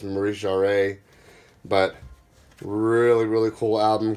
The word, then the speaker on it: Maurice Jarre: says Maurice Jarre or I always mispronounce this one out of it's Maurice RA but really really cool